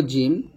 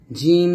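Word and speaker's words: ج: এখন শিখব জিম। জিহ্বার মধ্যখান তার বরাবর উপরতলার সঙ্গে লাগিয়ে শক্ত এবং মজবুত আওয়াজে জিম উচ্চারণ করতে হয়।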